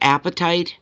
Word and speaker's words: apatite: is blue okay so sound like apatite cuz that's how it's spelt blue apatite although it doesn't mean apatite of hunger of your stomach or whatever because it's not spelt that way huh oh my god